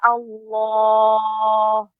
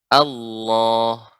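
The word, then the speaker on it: الله: Allah, bukan seperti itu. Ya kan tapi tetap ya pada posisinya ya tidak monyong bibir. Allah. Ya demikian. Illa masya Allah. Ya, bukan dengan monyong.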